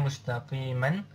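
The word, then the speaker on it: مُسْتَقِيمًا: Nah, tulisannya mustaqiman, tapi kita bacanya siratan mustaqima.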